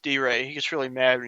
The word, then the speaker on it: DeRay: I love first off, it's pronounced D-Ray. He gets really mad when you mispronounce. D-Ray? Yeah, it's D-Ray.